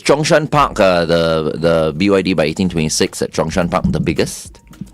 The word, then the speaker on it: 1826: So it's 1826, is that how we're pronouncing it? 1826, Okay, that's right.